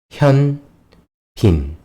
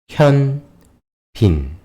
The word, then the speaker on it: 현빈: 현빈. 현빈.